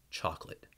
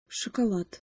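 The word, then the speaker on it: шоколад: very subtle all in that first syllable in order for it to sound correct don't overdo it and don't under do it thanks for watching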